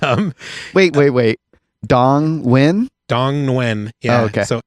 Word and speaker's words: Nguyen: i only wish you would have tried to pronounce this one yeah and um wait wait wait dong win dong when yeah okay so n-g-u-y-e-n i like